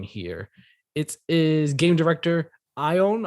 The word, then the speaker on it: Ion: it is game director i own i believe is how you pronounce the first name how's it cost us